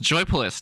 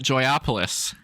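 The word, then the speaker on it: Joypolis: Joy polish locations in China and that it's pronounced joyfulist not joyopolis whoops arcades and indoor amusement parks like this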